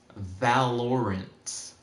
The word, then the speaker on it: Valorant: And the way that the calculator is going to work is going to say, he said is pronounced Valorant.